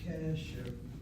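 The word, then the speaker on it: קשר: You'll notice the word has an irregular first syllable, CV. A short vowel, therefore, will be accented. Kesher, kesher.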